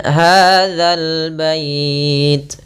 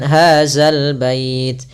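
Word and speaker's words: هذا البيت: Kemudian hadzal bait. Hati-hati dalam pelafalan za, jangan sampai dibaca dengan hazal bait. Sering terjadi kita mendengarkan huruf zal diganti dengan zai. Ini kurang tepat dan bahkan bisa merubah maknanya.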